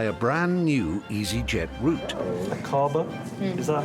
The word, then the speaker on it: Aqaba: Aqaba? Is that how you would pronounce it? Yes, Aqaba. That's right, Iris. It's Aqaba in Jordan, 5.5 hours flying time away.